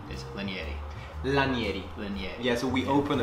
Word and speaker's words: Lanieri: without further ado let's jump in first correct pronunciation is lynnie a la Yeti yes we opened like in Italian and in